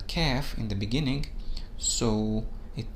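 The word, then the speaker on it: كاف: on to the letter k f k f which is similar to the sound of k in english this letter also takes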